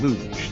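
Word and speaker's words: Looj: computer America this time the iRobot luge they spell it l-o-o-j it's not an Olympic event we didn't want all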